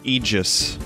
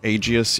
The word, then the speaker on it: aegis: room this one's from one verse then it's pronounced aegis it's not aegis yeah i always thought it was aegis that's a hard thing for me to not